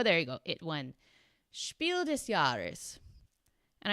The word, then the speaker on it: Spiel des Jahres: And I know how to say it like that because I got absolutely roasted in the comments on a video last year where I pronounced it Spiel des Jahres, which is like a French pronunciation, I guess.